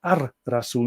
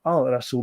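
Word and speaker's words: الرسول: And of course, Ar-Rasul, the prophet, is pronounced Ar-Rasul instead of Al-Rasul because Ra is the, let's see, the sun god of Egypt.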